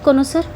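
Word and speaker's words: connoisseur: सिलेलेक्ट the correctly spilled कोनोसर। कोनोसर की correct spelling क्या हो जाएगी?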